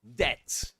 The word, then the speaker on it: debt: Well, to cut a long story short, this is debt. Debt. You don't pronounce the B. The B is silent. You ignore it. You say debt.